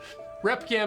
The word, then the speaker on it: Repgam: Repgam is how you say that word.